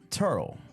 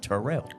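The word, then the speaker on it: Terrell: nobody says that nobody says that I'm from turl but the proper pronunciation is Terell Terell okay nobody says that so yeah it's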